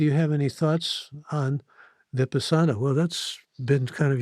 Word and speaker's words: Vipassana: He says, I have done a few Vipassana 10-day meditation retreats. Do you have any thoughts on Vipassana? Well, that's been kind of your calling card, hasn't it? Yes, or another pronunciation is vipassana, and It's one of